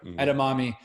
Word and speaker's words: edamame: place you get the etem a edamame yeah edamame I've done this test on four different occasions